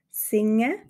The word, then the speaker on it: singe: Wir sagen also zum Beispiel in Zürich singe, während wir in Bern singa sagen.